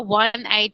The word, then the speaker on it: one-eyed: So it is a article, but it means it has a vowel, but the sound is like a W, okay? So it's not a sound like O. Oh, okay. A one-eyed man.